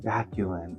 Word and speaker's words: Vaculin: Vaculin.